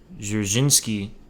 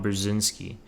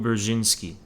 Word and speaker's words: Brzezinski: Remember what Zabernau Dzerzhinsky, I don't know how to say his name.